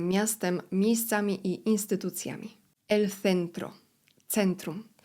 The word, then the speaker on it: centro: El centro, centrum. Litery C, tak jak C są wymawiane z językiem między zębami.